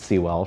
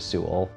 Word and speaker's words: Sewell: in a name book or originally and she pronounced it SE well for many years but I adjusted the pronunciation to Su starting in Middle School my grandparents lived in